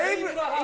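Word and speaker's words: Abraham: 에이브라함! 에이브라함! 에이브라함! 아이브라함이라고 하지! 발음 따라 다른 거예요! 에이브라함! 얘가 약간 텍사스 주민가 보지 말이 약간 아이브라함!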